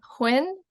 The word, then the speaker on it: Huynh: and I'm going to ask her to uh pronounce her full name for us hi my name is Hinn and yeah I'm happy to be here